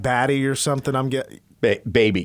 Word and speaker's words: Bhabie: I'm getting baby. It's BHABIE. So baby.